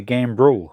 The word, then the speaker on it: gambrel: this I did check the name I was mispronouncing it it's actually a game rule with an R so gam b r e l and it's for hanging up a carcass by